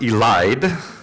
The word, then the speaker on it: elide: Of course, my second response to seeing this was I had to look up what the word elid was. It turned out it's actually pronounced elide.